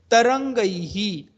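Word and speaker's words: तरङ्गैः: इन दोनों जगह पर आप देखोगे ड लिखकर उसके पेट में डॉट दिया है, वो संस्कृत में उसको न लेटर बोलते हैं। उसका प्रोनाउंसिएशन अनुस्वार के सिमिलर आप कर सकते हो।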